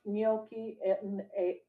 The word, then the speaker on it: gnocchi: with butternut squash, ganache, gnocchi. I was about to say, I think the G is silent. I know. I was having a hard time saying gnocchi. Yeah. Okay. With butternut squash gnocchi on a bed of kale seasoned with truffle salt.